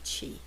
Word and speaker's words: Qi: technique acupuncture Works in correcting the flow of chi now this word is spelled Qi but is pronounced C he so